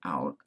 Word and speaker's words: cout: Cout stands for console out and cin stands for console in. They're pronounced cout and cin, not count or sin.